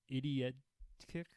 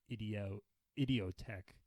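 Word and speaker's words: Idioteque: For number 3, I have Idiot Kick from Kid A. I just butchered that. I kind of butchered that pronunciation. I just looked it up. I believe it's Idiotech.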